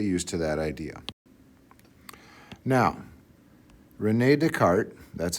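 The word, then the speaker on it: René Descartes: Now Renee Deart, that's how you say his name, figured out that you could have a number that I squared equals1.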